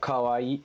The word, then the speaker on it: kawaii: a little I'll say as far as pronunciation goes it's a little trickier and like awkward um if you practice it or especially if you can listen to it somehow um maybe I'll I'll say it and if you want you can like clip it or something but it's like so normal Kawaii I'll do it like